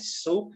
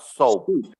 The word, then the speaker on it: soup: uh how much rice soup money money you don't have money here yeah you added right it's okay uh-huh so attentional pronunciation it's soup soup not soap soup so Sophie is another